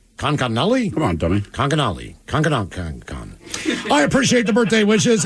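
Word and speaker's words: Conconully: Miles, you mispronounced it. It's Connolly. Conconnully? Come on, dummy. Conconnully.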